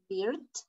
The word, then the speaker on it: beard: Beard, beer. Yes. Y también cerveza no suena igual. Ese es beer. Ajá, sonido largo, beer. And this is beard, sonido corto.